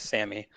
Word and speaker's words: Sammy: So I guess just a side note before I ask my question, you did pronounce my name correctly in the mail call. It is Sammy.